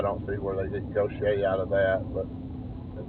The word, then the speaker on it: Gautier: Gautier, I would say go Gautier. I don't know how you say that, but they say it's Gaucher.